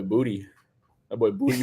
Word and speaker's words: Boutte: Was that how you pronounce the last name, Boutte? Yeah, that boy Boutte about to come through for us.